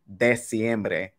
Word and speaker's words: diciembre: So you have to remember that the vowels always sound the same in Spanish. They're never, like, if you spell it D-E-C, that technically is de, diciembre. But when you say it out loud, it's D. So that would let you know that that second letter is E.